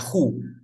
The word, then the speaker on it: who: How es Ok, este de aquí para la persona se pronuncia who. Who, por ejemplo, tú quieres decir quién eres. ¿Cómo sería? Who are, who are you? ¿Quién eres? y el otro es how. Este se pronuncia who y este se pronuncia how.